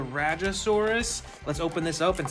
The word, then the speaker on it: Rajasaurus: I believe it's pronounced the Rajasaurus.